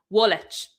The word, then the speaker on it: Woolwich: Woolwich. Woolwich, is that how you say that place, Ash?